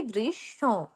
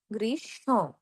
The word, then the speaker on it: গ্রীষ্ম: এর উচ্চারণ হবে গ্রীষ্ম, গ্রীষ্ম, গ্রীষ্ম, এইভাবে। ঠিক আছে? গ্রীষ্ম। আর একটু আনুনাসিক হবে।